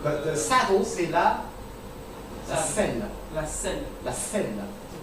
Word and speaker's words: selle: But it's pronounced the same way, except it's le selle, la selle. Double L-E.